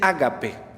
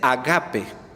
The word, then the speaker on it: ágape: la acentuación es incorrecta no se dice ágape se dice ágape porque tiene acento circunflejo el primer acento es agudo en griego hay dos acentos y la palabra ágape